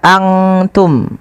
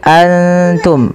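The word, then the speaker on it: أنتم: Maka antum tidak dibaca angtum, bukan dibaca angtum, tapi antum. Bedakan antara bunyi antum dengan angtum, jauh beda.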